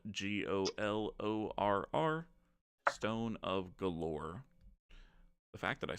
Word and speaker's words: Golorr: It's called the Stone of Galore, I believe. And that's spelled Golorr, Stone of Galore.